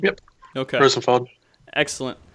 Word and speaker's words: Rozenfald: Rozenfald? Yep. Okay. Rozenfald.